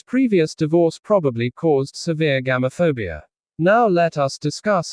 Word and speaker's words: Gamophobia: The word is pronounced as gamo fabia. Repeat after me slowly. Gam fabia. Now faster. Gamophobia.